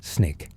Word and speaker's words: SNCC: The students organized themselves into the student non-violent coordinating committee, SNCC, pronounced SNIK.